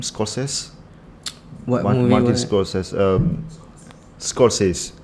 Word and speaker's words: Scorsese: How you pronounce the last name? Scorsese.